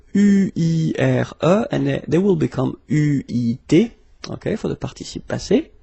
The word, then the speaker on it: eu: It will become EU, so you will have to write this participe passé form like that, okay, but you will have to pronounce it U.